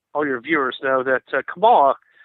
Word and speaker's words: Kamala: your viewers know, that Kamala Kamala, as she pronounces it, means terrible and horrible in Finnish.